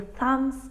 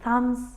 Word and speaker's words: thumb: letter here is B very often we have a silent B just before an m so we don't say